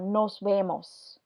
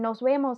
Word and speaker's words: nos vemos: into see you later here the letter V is not in between two vowels so we have here we have an S next to it and then here we have an e so this v stays the regular letter v does not change